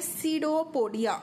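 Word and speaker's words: pseudopodia: को क्या बोलते हैं सीडो पोडिया सीडो पडिया तो सीडो पोडिया में यहां पे जो पी है वो साइलेंट है तो प सडियो पोडा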